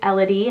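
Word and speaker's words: Ellody: So her name is Elodie, and that's how we're going to say it.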